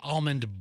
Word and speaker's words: almond: By the way, I'm a silent L person. I say almond. Some people say almond and pronounce the L.